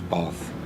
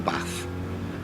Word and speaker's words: bath: they pronounce uh pronounce bath in or bath in Bathurst or Bathurst depending on where you are uh if you go with the a sound you're from up North if you do it